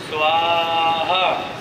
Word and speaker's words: स्वाहा: आति स्वीकार नहीं करते सा और हा के बीच में स्वा और ह के बीच में जो उच्चारण की गति है बड़ी धीमी है स्वाहा स्वा बोलते ही भगवान